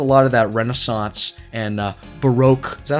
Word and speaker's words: Baroque: it has a lot of that Renaissance and Baroque. Is that how you say it? Baroque? Barack Obama. Baroque.